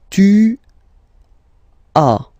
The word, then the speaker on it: tu as: Second one, tu as, okay. As usual in French, final S is not pronounced. Tu as. Tu as.